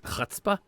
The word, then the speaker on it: chutzpah: Even my favorite word of all, I usually mispronounce because I'm not used to making the sound at the top of it. Yeah. Which is, it's chutzpah. Yeah, and it's that clearing your throat sound that I don't do with practice.